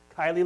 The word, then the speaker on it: Kiely: So I'm Brendan Kiely, and you can remember the pronunciation of my last name in the corny way because it's Kiely like Smiley.